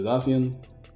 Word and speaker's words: Zacian: I always have to say that, because people like to correct me when I say Zacian, because they say Zacian. And I'm like, well, sorry guys, I say Zacian, because I feel like Zacian is the right way to say it.